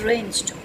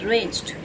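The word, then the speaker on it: wrenched: naked next is ranged W is silent and it is ranged r e n c h e d ranged next is Socket s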